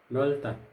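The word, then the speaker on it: 넓다: उच्चारण हुन्छ नल्ता, नल्ता, नल्ता भनेको फराकिलो।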